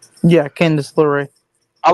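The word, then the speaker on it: LeRae: Just pair them together like you did with Gargano and Candace uh Candace Laray. Is it? Am I saying it right? Yeah, Candace Laorray.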